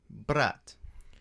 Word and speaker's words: brat: Brat. So brat is spelled the same way you would spell brat, like a bratwurst. Brat, but we pronounce it brat.